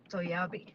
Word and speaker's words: Toyabe: Let me look for It's like Achoo. Toyabe.